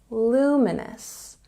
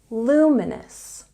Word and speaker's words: luminous: better if you say luminous there's a stress on the first syllable luminous luminous once again luminous instead